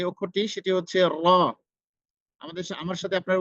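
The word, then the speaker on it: ر: এরপরে হচ্ছে আমাদের যে অক্ষরটি সেটি হচ্ছে র। আমার সাথে আপনারা উচ্চারণ করুন, র, র।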